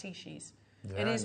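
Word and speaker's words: Heishi: And I said, oh, you're Heshis. He said, no, it's pronounced Heshis.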